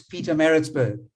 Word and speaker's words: Pietermaritzburg: And Sashin, you spoke about Pietermaritzburg last week, and you battled to pronounce it. Well, I'm now correcting you and saying it's Pietermaritzburg.